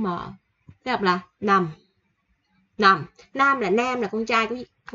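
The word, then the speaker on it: 남: Nó đọc là nằm.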